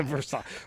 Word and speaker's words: Versailles: Tommy, once you get to Columbus, please respect our pronunciation of our bastardization of the pronunciation of the name Versailles. Versailles.